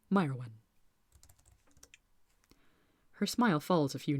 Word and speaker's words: Mairwen: Pronounced Mairwen.